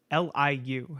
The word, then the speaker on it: Liu: L-I-U. How do you pronounce that? Liu. Okay, Liu.